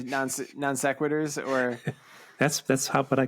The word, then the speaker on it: non sequitur: Non-sequenter moment? Non-sequenter minute. It's pronounced non sequitur.